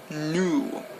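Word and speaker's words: nous: we move a little bit forward we have new new spelled n-o-u-s new new basically means wait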